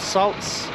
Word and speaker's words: Saldus: around the salts old salts strange name it's a 13th century old word um that's how you say it s-a-l-d-u-s salts okay let's see what